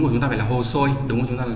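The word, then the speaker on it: 細い: Câu số 6, cái chữ này có hai cách đọc là Koma Kai đúng không? Và Hosoi đúng nhỉ?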